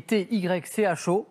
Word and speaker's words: Tycho: Tycho Brahe. Bravo. Avec la bonne prononciation et tout, et tout, et tout, hein. Le Tycho, ça s'écrit T-Y-C-H-O, ça se prononce Tycho, Brahe, B-R-A-H-E, Brahe, exactement.